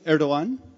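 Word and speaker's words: Erdoğan: You don't say , because it has a letter that's known as silent G in Turkish, which has an accent mark over it. That's a G in the middle. So it's ERDO -- silent G -- AN.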